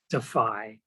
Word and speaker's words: DFI: The organization is called the Defense of Freedom Institute, and it's pronounced, as Paul said, DEFY.